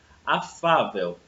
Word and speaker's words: afável: Afável. Então, vamos fazer separação silábica. Afável, né? Então, a sílaba tônica é o Fá.